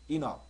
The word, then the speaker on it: enough: 여기 발음 기호가 여기에 보면 악센트가 여기에 들어가 있잖아요. enough. 살짝 푸 발음을 받아주는 게 좋을 것 같습니다.